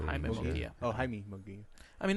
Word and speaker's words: Munguia: It's Jaime Munguia, but that's how you say it. Jaime Munguia.